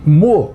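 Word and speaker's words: Meaux: parada de hoje é na Cidade francesa de mo Essa é a pronúncia correta o nome tá escrito aí essa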